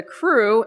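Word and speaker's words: Krewe: By 1815, the first official secret organization, otherwise known as a crew, and by the way that is spelled KR we um was formed.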